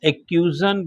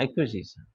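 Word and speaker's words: acquisition: Number 1, द एक्यूजन by state of any property. समझ गया ना? द एक्यूजन, इसका सही प्रोनाउंसिएशन क्या निकालेंगे? हाँ, एक्विजिशन, एक्वायर कर लेना, मतलब एक्विजिशन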